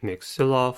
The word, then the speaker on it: maxilla: We apply the center spell method and say maxilla for the spelling purpose by putting the stress on all syllables.